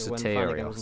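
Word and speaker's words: Sotirios: Soterios, that's how you say his name.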